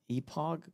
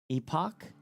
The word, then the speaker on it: Epoch: The cha is EPOG. Wait, what? The cha is pronounced K. Epoch last. Then why not put a K.